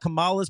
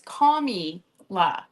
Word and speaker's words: Kamala: She's Well, you pick Kamala. Kamala. Done. You pick. And now look, Kamala. It's Kamala. You're not saying it right.